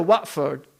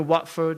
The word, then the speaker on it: Watford: Because there's no way you can tell me, if you go to Watford, you know Watford in England? It's actually Watford, right? But they say Watford. Why? Because they don't pronounce the T.